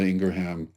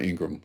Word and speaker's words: Ingraham: Tucker Carlson and Laura Ingraham, or Laura Ingraham, I guess she pronounces it.